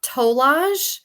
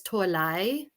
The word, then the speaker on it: Tolaj: your last name um toage but technically you know if I was gonna give you the literal you know pronunciation it's toai but yeah but toage is a little bit easier I don't know if